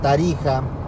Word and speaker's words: Tarija: se escribía con la X, pero se pronunciaba como la J. México, Texas, Tarija.